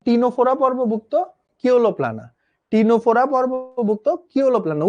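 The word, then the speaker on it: Ctenophora: সি উচ্চারণ হয় না, হ্যাঁ, টি দিয়ে উচ্চারণ হয় টিনোফোরা।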